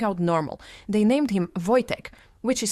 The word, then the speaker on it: Wojtek: They named him Voytech, which is spelled W OJ T, but pronounced Voytech because Polish spelling runs entirely on chaos and vibes.